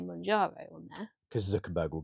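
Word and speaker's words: Mounjaro: actually get hold of Mojano? What are you going with? Manjaro, like Kilimanjaro, Because like the that's mountain. Yeah. Yeah, because that's how it's spelled.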